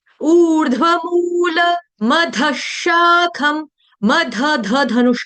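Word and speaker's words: अधःशाखम्: लेकिन यहां पर विसर्ग का उच्चारण जो होगा हलंत श के साथ होगा।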